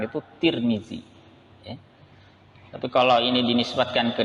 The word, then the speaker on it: Tirmidzi: antaranya adalah Imam Tirmidzi ngomong-ngomong ada juga yang membacanya dengan odomart turmudzi atturmudzi ada juga yang membaca at-tarmidzi bahkan ada yang baca dengan huruf Dal dzal nya diganti Dal akar Mini kalau yang masyhur yang biasa kita gunakan itu Tirmidzi Tapi kalau